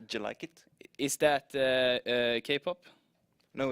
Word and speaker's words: Jellikit: It's actually pronounced Jellikit.